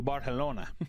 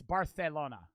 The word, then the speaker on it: Barcelona: Is that how you say it? It's procedure. Barcelona. Isn't that how they say it? I know in most Spanish countries, a C is just a C. But it's Barcelona.